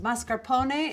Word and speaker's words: mascarpone: or a toasted baguette this is mascarpone pronounced mascarpone in italian this is a double